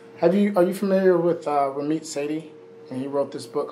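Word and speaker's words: Sethi: familiar with uh ramit sadie and he wrote this book called i will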